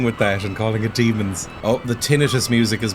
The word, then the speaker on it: Daemons: I've been basically informed by everybody that it's pronounced demons, so I'll be going with that and calling it demons.